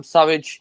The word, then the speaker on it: Surridge: Obviously delighted for Sam Surridge. That's how you pronounce his name.